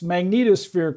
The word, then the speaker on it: magnetosphere: tail so so that's that's how you remember to pronounce magnetosphere correctly is think of magneto and then put a sphere on the end of it good good nice all